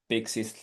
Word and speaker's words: PKCE: And you can of course add Pixies, little tiny. We have a separate slide for this, so we'll go to that. So PKCE, it's pronounced as Pixie.